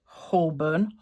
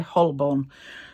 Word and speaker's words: Holborn: This is a Phylax Hullburn, Hullborn, however you would like to pronounce it. I say Hullborn.